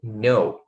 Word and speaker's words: know: O K também é mudo.